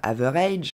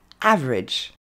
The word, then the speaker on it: average: un match la moyenne ne se dit pas avare edge et se dit average alors tout d'abord vous avez noté qu'il ya que deux syllabes honda carla 3 mais il y en a que deux aidez-vous de la troisième